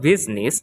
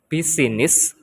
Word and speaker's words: business: the word I but in the word business the letter I Become Silent and you canot say it like buiness or buiness the next is letter